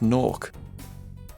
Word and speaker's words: Gnorc: Then somebody got tongue-tied and said Nork. They immediately knew that was what they were going to be called, and that it had to be spelt with a G.